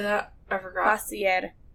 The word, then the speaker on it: Facilier: Facilier. Facilier? Yeah, it's French.